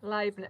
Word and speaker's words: Leibniz: Leibniz. Yeah. Yeah, I can't remember. It's because in German, EI is pronounced I, so we initially got it wrong and then we got it right.